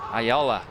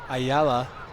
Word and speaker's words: Ayala: Ayaya's, how do you say his name? Ayala. Ayala. He's being very active on